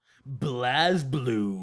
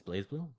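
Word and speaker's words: BlazBlue: say about this one Blast blue you said it wrong it's blaze blue yeah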